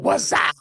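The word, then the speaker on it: Wazuh: Now, anytime you ever talk to the people that develop Wazaa, you've got to say it correctly with the whole Wazaa, right? Because that's how it's pronounced appropriately.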